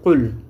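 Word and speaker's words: قُلْ: Donc la 2 c'est Qul. La prononciation elle est là en bas.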